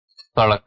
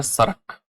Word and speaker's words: सड़क: है सड़क, आपको पता ही होगा ये शब्द सड़क। पूर्व में जब देखेंगे आप तो पूर्व में ये शब्द जो है वो क्या हो जाता है, यहां पर क्या हो जाएगा, यहां हो जाता है सरक, ये प्रोनाउंस करते हैं।